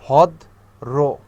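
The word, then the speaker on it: ভদ্র: একইভাবে র ফলা কি করতে হয়, যে ভদ রো, ঠিক আছে, অর্থাৎ শেষের যে বর্ণটা থাকে তারপরে র আনতে হয়, ভদ রো, নম রো। র ফলাটার উচ্চারণ কিরকম, রো এর মতো।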